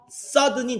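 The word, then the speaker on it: southern: 얘기예요 어떻게 아 그리고요 발음 조심하셔야 되는게 클래스카드 배우겠지만 이거 사우스니라고 표현한다 싸든 서든이 남쪽이라는 뜻이고요 놀든이 북쪽이라는 뜻이에요 됐습니까 사우스는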